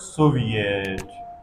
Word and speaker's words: Soviet: e in the word Soviet in the word Soviet it is pronounced e which is rare sound given by it rarely and the next uh